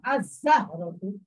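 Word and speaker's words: الزهرة: যেটা 13টি হরফের অন্তর্ভুক্ত, এর শুরুতে যদি আল আসে তখন এই ঝাটা উচ্চারিত হবে না, যেমন আজাহরতুন, এই নামটা উচ্চারিত হবে না, যেমন আজাহরতুন, এই নামটা উচ্চারিত হচ্ছে না, আলিফটা ডাইরেক্ট ঝাঁকে ধরছে, আজাহরতুন।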